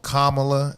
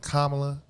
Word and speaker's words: Kamala: folks especially these white women who purposely call kamla instead of kamla you know what I'm saying they're disrespecting her